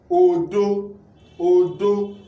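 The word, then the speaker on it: òdo: So this is Dore, O-D-O. Now let's pronounce it with Dore. It will give us what? Odo, Odo. Odo means what?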